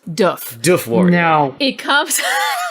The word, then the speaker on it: Doof Warrior: So, you know how we say it, the doof warrior? That's not how you pronounce it. So it's pronounced doof.